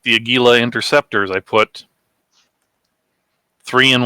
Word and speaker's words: Aguila: I asked the guy at the booth it's pronounced Aguila yeah case gauge fell on the floor yeah